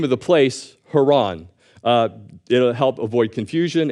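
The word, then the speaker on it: Haran: person Heron and the name of the place Haron uh it'll help avoid confusion and it's also that's the original way you would pronounce the place Haron so continuing verse 27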